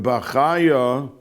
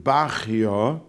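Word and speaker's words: Bachya: mishkun anymore more and like Rabenu Bakaya or some pronounce it Rabenu Bakio.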